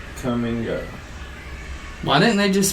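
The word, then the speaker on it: Kum & Go: had a gas station it was spelled k-u-m and told me to come and go why didn't they just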